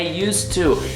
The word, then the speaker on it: used to: I used to, não, gente, é used to. Imagina que o verbo não tá no passado, imagina que não tem esse ED aí, porque a pronúncia é a mesma.